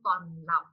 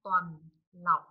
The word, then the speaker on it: tuần lộc: Con tuần lộc. Con tuần lộc.